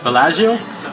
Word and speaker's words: Bellagio: it was over $100 I pronounce the name the casino wrong the correct approach every Bellagio oh I probably said valachia or visit Bellagio allows